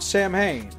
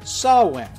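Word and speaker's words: Samhain: somewhere the goblin stopped Sam Hayne mostly by reminding him that his name should be pronounced Sawan causing Sam Hayne to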